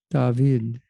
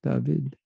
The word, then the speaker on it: David: David. That's how they say it in Israel, David.